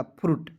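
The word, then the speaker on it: fruit: यू आई टी। तो इसे पढ़ेंगे दोस्तों यू का प्रयोग कीजिएगा और आई को साइलेंट कीजिएगा और टी का ट लिखेंगे। हो जाएगा फ्रूट।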